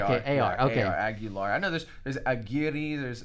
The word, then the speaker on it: Aguilar: How do you say your last name? Aguilar. Aguilar? Okay. Aguilar. Okay. Yes, sir. I have a mentor. It's spelled the same way. I don't know if it's Aguilera or Aguilar, but is there ERA at the end? No, for me it's AR.